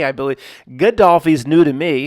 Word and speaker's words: Gaddafi: Gaddafi's new to me. It looks like that says Gaddafi, like Daffy Duck.